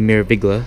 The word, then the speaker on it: Meraviglia: Here's their MSC Meraviglia. That's how you pronounce it.